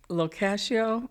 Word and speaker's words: Locascio: And my tagline is Locascio rhymes with pistachio.